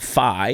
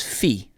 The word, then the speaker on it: phi: the xe or see fraternities and sororities have messed up the pronunciation of greek alphabet it's not it's not zy it's z z okay okay it's not phi it's fee all right it's not